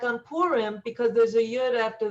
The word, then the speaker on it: Purim: Now, if you wanted to be technical, it's Purim. Yeah. But everyone says Purim because, I don't know, people speak just kind of, more quickly. So, but it's Purim. Really, it's Purim. If you want to really pronounce it the way it's supposed to be. But people say Purim, but it's close enough.